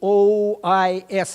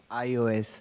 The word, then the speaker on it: iOS: It's like Microsoft or Apple system, OIS, it seems to me, or something like that. iOS. iOS, thank you very much. Now I know how to pronounce that.